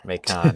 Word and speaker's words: Macon: Or is that pronounced? That's Macon. Wrong. Macon. Yeah, that one I know is different.